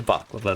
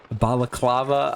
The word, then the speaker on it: balaclava: And yes, I am aware I am not saying that right. It's a baklava to me. That is how I have always said that word. So I am aware I'm saying it wrong. Balaclava, I think it is.